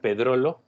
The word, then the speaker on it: Pedrollo: Pueden buscar Pedrolo, se escribe Pedrollo con doble L.